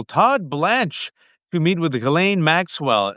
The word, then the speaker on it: Ghislaine: And the S is silent. The G is hard. Ghislaine, thank you so much.